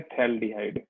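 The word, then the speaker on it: phthalaldehyde: बिल्कुल, यहाँ P silent है, इसी को बोलते हैं थैल्डिहाइड, थैल्डिहाइड, ठीक है?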